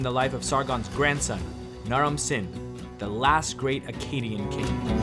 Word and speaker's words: Naram-Sin: life of sargans grandson na Ramzan the last great Akkadian King nah Ronson whose name can also be pronounced Narim suin was already a great